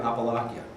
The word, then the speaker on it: Appalachia: This epidemic is thriving in the area of Appalachia. That's how you pronounce it.